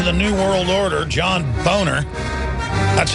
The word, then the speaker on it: Boehner: sell out to the New World Order John boner that's how he pronounce his name we're not going to go under his mind control and call him bainer anymore because he tells us to has gone